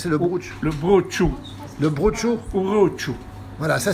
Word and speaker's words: brocciu: prononce pas comme ça le brunch jeu mal prononcé de brousse le boat show le brocciu ou aux choux voilà ça c'est le fromage